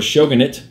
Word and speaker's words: Shogunate: of show an 8 or shogunate I think is the other accepted pronunciation very cool game we talked